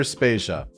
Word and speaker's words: Spacia: is Jonah Vader and I'm Spacia we're brought to you by anonymous dinosaur and rhymes with Asia it's time to appreciate